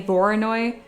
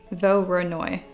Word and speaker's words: Voronoi: You can make it look like carved wood by adding a Voronoi texture on it.